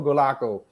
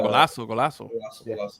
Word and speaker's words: Golaço: Is it Golaço or Golaco? How do you pronounce the? No, Golaço.